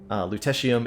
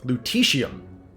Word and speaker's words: lutetium: Lutetium. Excuse me, lutetium, because it's Lutetia would be the name of Paris then.